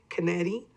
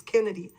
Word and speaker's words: Kennedy: And I say Kennedy because everybody says it's Kennedy, but it's actually one N, so it was pronounced Kennedy. So the accent is on the second E, Kennedy?